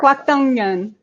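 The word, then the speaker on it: 곽동연: Kwak Dong Yeon.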